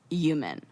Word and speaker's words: human: when people pronounce human human yes the h is silent like and in a